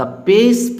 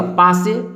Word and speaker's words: pace: जैसे यहाँ लिखा है PAC, जनरली तो हम लोग कहते हैं PA से पाकर C से का पा से, लेकिन नहीं, इंग्लिश में ऐसा रूल नहीं है। इंग्लिश में इसको पेस पढ़ना है।